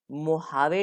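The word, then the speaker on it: Mojave: ये है मोहावे desert. दोस्तों इसको मोजावे लिखते हैं लेकिन इसका प्रोनाउंसिएशन ह है, मोहावे रेगिस्तान, मोहावे, ठीक है, मोहावे।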